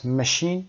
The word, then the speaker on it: machine: همه به جز machine که استثناً ش تلفظ میشه، بقیه صدای چ رو دارن.